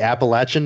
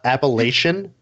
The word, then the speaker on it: Appalachian: because I'm from the Appalachian Mountains and it's not Appalachian it's Appalachian and I'm from there